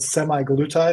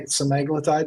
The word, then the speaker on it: semaglutide: version of that's called semi glutide or semi semaglutide depending on how you want to pronounce it that's the bestselling